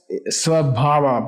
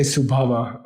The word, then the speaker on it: subhava: The next word is subhav, but we say subhava. Okay. So, s u b h a v a. Subhaba.